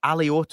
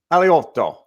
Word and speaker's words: Alioto: If you're in Italy, it's Alioto. Yeah. Everyone else, it's pronounced the way that you said it.